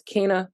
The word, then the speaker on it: Kingna: to come with me um but my name is spelled k-i-n-g-n-a Dot that's Kina on Instagram on Twitter on Facebook on